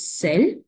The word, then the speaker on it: celles: In case of feminine plural, we use celle with S, but the pronunciation is celle only.